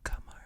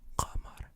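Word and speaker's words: قمر: Okay, so it's not qamar. It's qamar.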